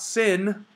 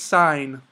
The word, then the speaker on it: sine: i n e and it's pronounced not sin okay it's not sin it's sign um so again we